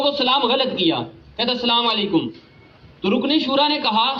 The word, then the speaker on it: السلام علیکم: السلام علیکم، السلام علیکم، السلام علیکم، السلام علیکم، وعلیکم السلام.